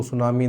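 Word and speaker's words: tsunami: been lost due टू सुनामी देखिए T silent है यहां पे सुनामी सुनामी में क्या है टी जो है साइलेंट रहता है सुनामी है ना कि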